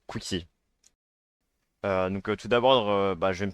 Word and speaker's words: qxuexy: Pour ceux qui se demandent, parce que je sais que c'est un peu compliqué à prononcer, mon pseudo ça se prononce Quixi.